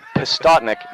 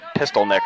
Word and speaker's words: Pistotnik: from multiple parties uh pistotnik not pistolneck or whatever i was saying in the first go around so i apologize we